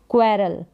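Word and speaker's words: quarrel: फिर झगड़ा करना, झगड़ा करना इसकी अंग्रेजी है क्वेरल, क्या है, क्वेरल, क्व करके ये QU का उच्चारण होगा और साथ में QU आता है, क्वेरल, क्व करके QU का उच्चारण, ध्यान रखें।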